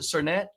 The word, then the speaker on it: Sernett: today I want to introduce Our Guest cernet is that how you pronounce it cernet that is how you pronounce it yep